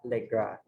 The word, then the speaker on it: Le Gras: Kapag French kasi hindi pinopronounce yung last letter. So, View from the Window at Le Gras.